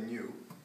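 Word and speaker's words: ν: So C is equal to lambda nu. This is this B here is actually pronounced nu. It's a Greek letter.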